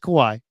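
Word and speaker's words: Kawhi: you always G Kawaii it's Kawai Ka uh there's no e at the end there just Kawai that's what I said though I'm I'm I'm I'm not hearing myself mispronounce it I apologize uh Kawai okay no not Kawaii that's it's Hawaii and it would be like Kawaii except there's no eai Kawai like Kawai Kawaii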